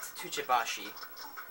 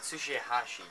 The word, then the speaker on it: Tsuchihashi: It's not Tuchibashi, nor is it Tobashi. It's Tsuchihashi, dude.